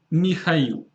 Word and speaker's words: Mikhail: I noticed that some English speakers have problems pronouncing this specific name, so it's Mikhail.